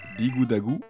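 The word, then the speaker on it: ディグダグ: jeu d'arcade de Namco, prononcé Digudagu en japonais.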